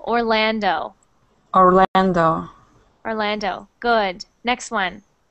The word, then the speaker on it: Orlando: good next one Orlando when you say that o sound at the end it's actually an O Orlando Orlando Orlando good next